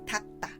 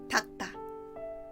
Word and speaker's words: 닦다: We write 닦다 like this, but the pronunciation is 닦다. Repeat after me. 닦다.